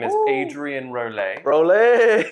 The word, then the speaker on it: Rolet: Rolet. That's right. Rolet. That's right. I can pronounce that.